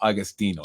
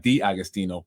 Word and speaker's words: Agostino: Paul Agostino, not D. Agostino.